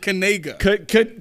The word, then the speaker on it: Kaniga: They pronounce it Kanega. Yeah, all right. Noah. But hey, listen. He pronounced it Kanega, but you know how somebody gonna pronounce They it. gonna leave out the K altogether. Don't let them be nice. They gonna leave the K off altogether.